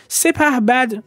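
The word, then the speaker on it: سپهبد: "Sepahbad" is a combination of the terms "sepah" and "bad" 'Sepabod" is the incorrect pronunciation of the term.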